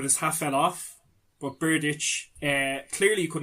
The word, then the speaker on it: Berdych: an example of this, Andy Murray and Thomas Berdych. I don't know if I'm pronouncing that correctly. But in the US Open in 2012, I think could have been the quarterfinal or semi-final. Berdych is the name. Berdych.